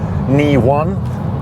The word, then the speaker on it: e:Ny1: range and consumption test sitting inside the Honda kn1 that's apparently how it should be pronounced not Honda e n y1 it's